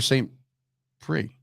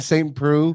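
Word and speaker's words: Saint Preux: When you say Shogun, I said Oliver St. Prix. Ovin St. Preux.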